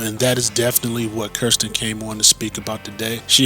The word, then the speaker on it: Kirstine: you do that so everybody wants to call me Christine but it it is k i and it once they know me for a minute they'll go oh and I say it's pronounced Kirsten because she curses a lot so once we get